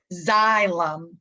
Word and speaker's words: xylem: the first one here this is how you say that xylem like xylophone xylem tissue and xylem